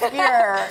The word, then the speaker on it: Geyer: Spelled Geyer, but pronounced Geyer.